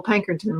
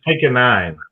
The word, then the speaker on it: Pankonien: Yeah, I've got Pankerton with me right now. Okay, I mispronounced your name again. Yeah, it's pick a nine, but it's okay.